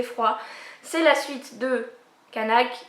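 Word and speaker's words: Qaanaaq: C'est la suite de Kanak, qu'il faut prononcer d'ailleurs Ranak, mais j'aime pas dire Ranak.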